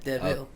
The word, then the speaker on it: De'Vil: So it's spelled like DeVille, like Corella, because a little classier like Cadillac, So it's capital and then capital V-I-L, DeVille, Okay, yeah.